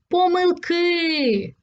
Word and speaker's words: помилки: А ось Останнє слово помилки тут наголос завжди падає на останній склад давай запишемо ці слова